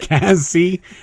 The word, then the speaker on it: Cassie: Cassie rhymes with Lassie.